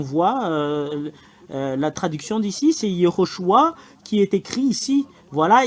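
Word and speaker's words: יהושע: voilà écoutez bien alors le fait de prononcer ce terme c'est Yehoshua le voilà alors que nous voyons très bien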